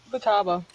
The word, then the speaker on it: Futaba: pronounce her name. Futaba.